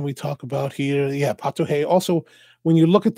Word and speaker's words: Pato Rei: Portuguese or at least in Brazil Portuguese the r's are pronounced like H's like we would say hotel or hotel or a hotel yeah Hotel Pato hey instead of Pato Ray